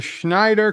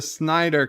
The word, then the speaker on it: Snyder: are dear bob the schneider cut no it's the snyder cut this would make schneider cut uh yeah okay okay okay i mispronounced it i got it dear